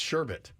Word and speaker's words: sherbet: sherbet yeah yeah yeah it's sherbet unless there's some weird silent r that that's not even in there not even in there it's not like it's spelled sherbet and you don't pronounce the r it's just Sher I mean if you